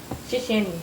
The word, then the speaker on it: 谢谢你: 谢你，谢谢你.